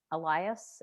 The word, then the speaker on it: Elias: And I understand that you had an opportunity to restore the Sam Elias. Is that how we pronounce Elias?